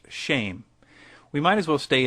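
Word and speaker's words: שֵׁם: Hebrew word for name, which is Shem, pronounced shame.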